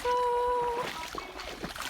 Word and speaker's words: slough: There's a slough that we're walking through. Slough and rhymes with through.